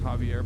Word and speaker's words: Xavier: Xavier is pronounced Javier, by the way.